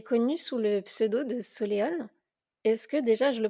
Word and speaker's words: Soléon: Bonjour Solène, tu es connue sous le pseudo de Soléone. Est-ce que déjà je le prononce bien?